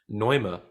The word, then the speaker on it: Neume: Do you, side note, do you want to hear the German pronunciation for Neume? Neuma.